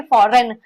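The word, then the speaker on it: foreign: फॉरेन में। जी silent है। तो जी साइलेंट है तो कोई बात नहीं है। जी में आता है फॉरेन कंट्री।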